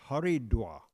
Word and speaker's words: Haridwar: Arjuna Prabhu's son, that they pronounce it there Haridwar.